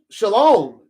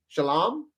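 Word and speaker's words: שָׁלוֹם: Whatever the way things are uh uh you know, shalom. But do you know the characters that make the word shalom? And it should actually sound more like shalom.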